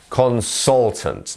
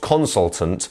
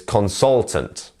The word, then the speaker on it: consultant: you can see here our stressed syllable is the soul bit consultant not consultant or consultant is consultant fabulous okay so next